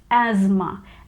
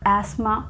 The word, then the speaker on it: asthma: word as asthma asthma we get this z sound in the beginning asthma and in british english